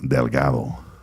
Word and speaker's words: Delgado: And when we try to say things like Delgado, but it's Delgado. Good morning. Delgado. Welcome, you pronounced it good. Yeah. Delgado.